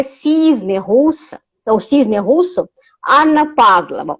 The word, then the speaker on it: Anna Pavlova: russa, ou cisne russo, Anna Pavlova, ou Anna Pavlova, como se pronuncia o seu nome Anna no Brasil.